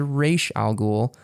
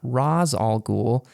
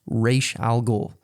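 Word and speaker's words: Ra's al Ghul: he's playing Ray sha ghoul yes I said re Alou not Raz Al goul and that is overall like a glaring frustration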